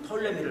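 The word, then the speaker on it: Ptolemy: 원래는 프톨레미라고 써 있어요. P자 써서 P-T L-O-M-Y 뭐 이렇게 톨레미라고 써 있거든요. 그러나 P를 갖다 발음을 안 해요.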